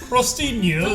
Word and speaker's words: Crostino: My name's Crostino. Crostino is how it's pronounced.